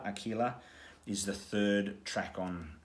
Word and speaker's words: Aquila: um and per oculus aquila i think is how you say aquila aquila is the third track